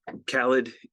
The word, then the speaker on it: Callid: um my name is Khaled first name rhymes with salad last name rhymes with